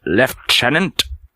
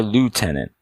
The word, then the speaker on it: lieutenant: US in the UK in British English the word is pronounced left tenant where in the United States you're here to tenant you'll hear Lieutenant instead of leftenant okay while both locations